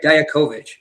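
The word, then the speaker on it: Dijakovic: Hey, I'm saying it right. Diaovic. That is them. That is exactly how it was pronounced on uh on the show. So no, it's not wrong.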